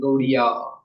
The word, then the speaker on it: Gaudiya: So from that came Gauri, Gauriya. And Gauriya, they pronounce it Gaudiya.